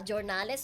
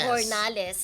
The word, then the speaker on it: Jornales: Ah Jornales or Hornales Hornales. Hornales ang pronunciation sa kanyang surname.